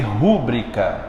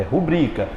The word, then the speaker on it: rubrica: forte é o brilho nada de dizer rubrica é rubrica por exemplo peço que